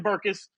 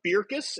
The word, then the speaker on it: Bircus: the beer is called beerus is the Flemish pronunciation but it sure looks like burkus so as long as